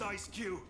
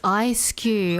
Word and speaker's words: Ice-Q: You've got this, Ice Cube. Oh, it's pronounced Ice-Q. I remember it's S-Q, like E. Like the S sound, but it's Ice-Q.